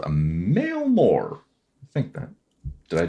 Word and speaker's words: Emil Moore: Moore is MOR. There's no E. Moore. You dropped that E. Can you spell that one more time for me? IMEALL. Emil Moore. M-O-R. Emil Moore. But it is pronounced a Mailmore or a Mailmore. A Mailmore. Okay.